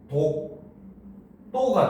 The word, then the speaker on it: 독도: 알겠습니까 자 그다음 봅시다 독도라고 쓰지만 발음을 하면 어떻게 된다 그렇지 바로 얘는 발음을 하면 독 또가 되죠 어떤 변화가 일어났습니까 채로